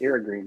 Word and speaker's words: Irrigreen: learned how to pronounce t it's the Irish pronunciation but it's IR green yeah all right I wasn't saying it right